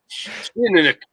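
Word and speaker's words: Teaninich: me this, but like if you just keep your lips tight and just force it out and sound confident, you probably have nailed the pronunciation. Okay, let me try again. Tinanik.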